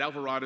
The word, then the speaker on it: Alvarado: get used to it they think of avocado and Desperado and different things but Alvarado is how you pronounce it and I'm proud to